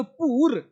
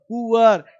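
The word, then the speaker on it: poor: आ अब ध्यान दो यहां बहुत इसको लोग बोले पुर पी से प डबल ओ उ र पुर नहीं पु आ इस इसका साउंड हुआ आ पुअ पुअर पुआ इसका रिया से पता क्या है ऐसे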